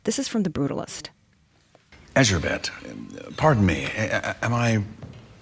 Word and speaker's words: Erzsébet: Erzsébet, pardon me, am I pronouncing that correctly?